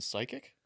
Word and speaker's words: psychic: Okay, is there a fucking P pronounced in psychic?